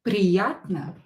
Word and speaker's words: приятно: As I told you before, when O is not stressed, pronounce it as A. Зовут. Зовут. And when E is not stressed, pronounce it as I. Меня. Меня зовут. Меня зовут. Очень приятно.